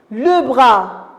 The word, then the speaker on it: bras: fin très bien le bras est-ce que j'ai prononcé la lettre s bien sûr maîtresses non